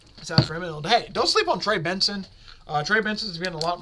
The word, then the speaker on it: Trey Benson: So I'm not saying they aren't going to give him the ball, but Trey Benson's been really proving himself, so I look for him to potentially get a few more touches as well.